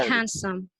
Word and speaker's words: handsome: time for me yeah handsome without d yeah handsome handsome yeah we do not pronounce this sound because it is between two consonant consonant sounds excellent thank you so